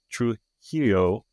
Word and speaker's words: Trujillo: with us about it is the star Trujillo.